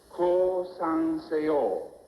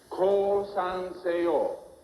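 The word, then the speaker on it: 降参: This is the way it must be pronounced. Core sanor surrender. Now everyone say it with me. Call son say all.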